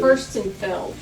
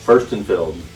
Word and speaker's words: Furstenfeld: But Furstenfeld. Furstenfeld. It's German.